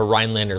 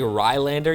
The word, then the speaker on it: Rhinelander: But I feel like once you say Rhinelander, you drop the N on Rhinelander, you become a local.